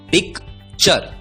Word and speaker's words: picture: अब यदि TURE का उच्चारण होता है चर तो PICTURE का उच्चारण होगा PIC पिक, TURE चर, उच्चारण होगा पिक्चर, पिक्चर।